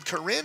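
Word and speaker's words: Karin: Well, it's actually, they just pronounced her name Corinne, even though it's... Corinne. I've been called her Karen all night. Yeah, K-A-R-I-N.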